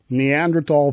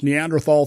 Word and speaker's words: Neanderthal: Now, he actually said Neanderthal thinking, but look, there's two correct pronunciations of the word, Neanderthal, Neanderthal. I prefer tall. It's just, as I'm going to say later, I'm not an anthropologist. I don't care. I pronounce it Neanderthal.